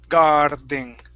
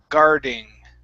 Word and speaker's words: guarding: You're saying guarding. Okay. So Okay. Push it down all the way through until you get to the D. Guarding. There can only be one D sound here.